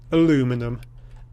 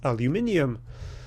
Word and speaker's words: aluminium: And does this actually technically say aluminum? Technically. However, I'm not American, no offence to the Americans, but I just don't pronounce it that way. I call it aluminium.